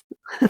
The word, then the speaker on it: Videopolis: I can't even pronounce that today. Theopolis? Videopolis.